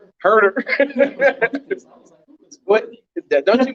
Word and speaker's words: Huertas: Herder. What? Don't you pronounce? I mean, it's spelled Huertas, Yeah. but it's not Wirtz. It's Herder. Is it Herder? Like Herder. Like I'm gonna hurt you.